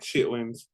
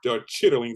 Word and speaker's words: chitterlings: of the South, to be honest, eat like chitlins, you or eat chitlins? chitter. Yeah, or chitterlings is what how you Yeah, properly pronounce, but we call them chitlins in the black yeah, community.